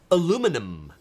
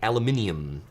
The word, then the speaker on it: aluminum: see this this this in the USA is aluminum aluminum foil if we in the UK it would be aluminium aluminium but it's aluminum